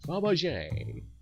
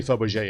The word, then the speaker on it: Fabergé: Is that the right pronunciation? Fabergé? That sounds a bit French. Fabergé.